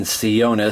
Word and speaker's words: Sionis: ceonus or scions uh in the audio adaptation for uh batman no man's land they were saying sionis so that's kind of what i have said how do you pronounce his name i've been saying sionna so there you go